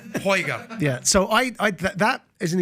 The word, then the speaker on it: Uyghur: in parliament to recognize the plight of the Uyghur Muslim people in China, who are an ethnic